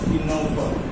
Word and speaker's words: Ctenophora: One is called as Cnidaria, other one is known as Ctenophora. In both these terms you mark there, in phonetically C is the silent.